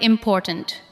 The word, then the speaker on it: important: Listen to the word important. Important. The second part receives the strongest beat.